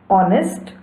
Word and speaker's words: honest: Words like our, honest, honor, or honorable, though begin with a consonant, an initial consonant h is not pronounced.